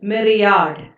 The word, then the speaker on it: myriad: numerous the pronunciation is meri yaad my are I led the pronunciation is Marriott and the meaning is